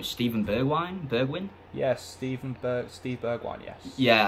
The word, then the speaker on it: Steven Bergwijn: I don't pronounce this guy's name. Steven Bergwijn?